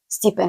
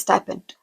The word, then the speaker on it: stipend: So go ahead, the moment you hear that it is not stipend, it is stipend, adjust your pronunciation immediately.